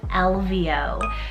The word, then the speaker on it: Elvio: name on the boy side it's the name elvio so e-l-v-i-o-l-v-o with that trendy o ending so